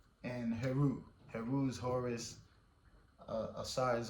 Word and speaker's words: Heru: Asar, Aset, and Heru.